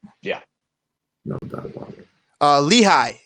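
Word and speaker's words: Lichaj: Lehigh is the pronunciation for Eric Lehigh, not Lickey.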